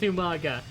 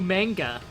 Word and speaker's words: Umaga: I should join versus with Umaga just like uh Regal did. And Regal never pronounced his name right. Every single time Regal would call him manga.